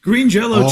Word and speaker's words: Green Jelly: did where Green Jello Green Jello changed their name to where it says green jelly but if you asked them they would say no it's still pronounced Green Jello green jell we just